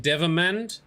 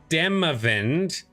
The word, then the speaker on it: Demavend: pre-start of this story King devamand sorry Dem event I always get the Civil syllables around the wrong way King demavend has been assassinated and